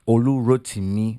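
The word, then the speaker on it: Olurotimi: It's Olu Rotimi. That's the proper pronunciation.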